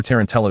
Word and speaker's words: tarantallegra: The accent for tarantallegra is on the second syllable, not the third.